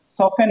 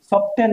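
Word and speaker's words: soften: যোগ করব তখন এটা সফেন হয়ে যাবে শব্দটির উচ্চারণ কিন্তু সফটেন না সফেন অর্থাৎ সফট ছিল এডজেক্টিভ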